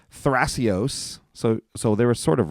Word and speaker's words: Thrasios: I don't know why they took the H out It's for the probably Italian. pronunciation stuff. Like maybe the TH isn't a sound in Italian.